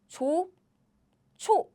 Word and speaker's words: 좋죠: So, it's like 조, 초 is a pronunciation.